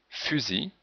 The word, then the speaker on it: fusil: Mais dans outil, on ne prononce pas le L. Fusil.